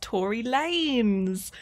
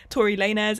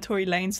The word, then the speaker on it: Tory Lanez: day after I filmed this that it's actually pronounced Tory Lanez. Wow, I had no idea. I never listened to his music anyway, but yeah, no, so I say Tory Lanez instead of Tory Lanez for this entire video, which is an extremely